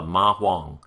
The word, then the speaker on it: ma huang: history, it's called the ma huang. Okay, so I think if I'm pronouncing it correctly, it's huang, like it's almost an O, not a h sound, but a huang.